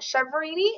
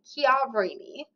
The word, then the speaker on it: Chiaverini: name so that is not Chini it is kavini um so this week